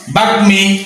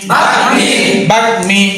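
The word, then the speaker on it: বাগ্মী: সংযুক্ত গ মফলা সংযুক্ত গ বর্ণের সঙ্গে যদি মফলা সংযুক্ত হয়ে আসে সেক্ষেত্রে মফলার উচ্চারণ হবে যেমন বাগমি বাগমি বাগমি এখানে মফল উচ্চারণ হয়েছে না হয় নাই বাগমি যিনি কথায় পটু তাকে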